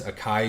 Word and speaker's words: Akai: Apparently it's not a K, it's a Kai jeweler or a Kai Diamonds. Um Akai Diamonds booth shut down after spitting it tracks NYC's face.